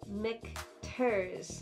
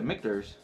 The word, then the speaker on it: Michter's: we have a mickers it's really funny to say and to me forever to say it properly and correctly say it one more time no mick turs mcters victors those are mikters now you're on the right striker i said that's not